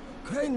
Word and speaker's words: Crane: Crane rhymes with train and brain and sail and crane the other and kind rain of plane.